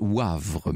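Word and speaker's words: Woëvre: c'était lunire bien sûr Laurence me fait amicalement observer que dans dans la Meuse la veuve ça se prononce Wavre me dit-elle sur place bien ça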